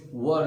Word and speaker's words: were: and it's not where, it's not where, it's were sound।